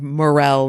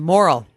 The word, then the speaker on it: morel: about his pronunciation of morel mushrooms. And we'll get back to Mike. Morel. He called them moral. Or he didn't say it out loud. Yeah, he said he thought it was moral.